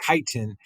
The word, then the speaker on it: chitin: it's kind of pronounced it's spelled with a CH but it is pronounced chitin and so chitin right here these are